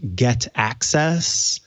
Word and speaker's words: Get aCC_e55: something like that and i believe it's meant to be pronounced get access but it's get acc underscore e55 if you're looking for it in